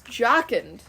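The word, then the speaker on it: jocund: joke and uh cheerful and light-hearted learn to pronounce what is this oh it is no it's jockened why it's jacking I don't know none of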